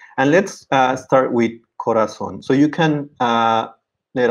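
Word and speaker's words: corazón: ends in n and i would say corazon so the last syllable is stressed it's a word that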